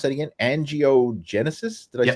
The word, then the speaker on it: angiogenesis: focus on this and and how did you pronounce that again angiogenesis did I say that exactly right yeah yeah